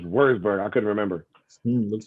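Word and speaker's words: Würzburg: and i think and i thought i thought was verse bird but it was worst bird i couldn't remember it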